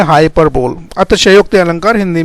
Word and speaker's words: hyperbole: तो हाइपरबोले या हाइपरबोल इसका सही प्रोनाउंसिएशन है।